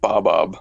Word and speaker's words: Bobob: But yeah, it's pronounced Bobob, like Bob and then Ob minus the first B.